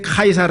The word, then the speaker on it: 카이사르: 지금 얘기하는 카이 살아가는것 로마의 황제를 쉬자 라고 하는데 이게 왜 카이사르 라고 우리말로는 k 를 보면 왜냐면 라티노 발음 식으로 하면 씻자 가 k 로 발음이 되요 예 그래서 이 라틴어로 발음을 했기 때문에 그냥 카이사르 라고 한거고 영어로는 c 저라고 이렇게 얘기를 합니다 예 그래서 자 그